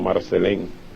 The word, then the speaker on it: Marcelin: se llamaba susana marcelín pronunciada en haití como marcel en y era dominicano el